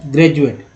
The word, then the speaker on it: graduate: तो डी का उच्चारण ज के रूप में हुआ ना।